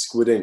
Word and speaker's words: Skwid Ink: Yeah, I mean, for those watching, it's Squid Ink. It's spelled Skwidink.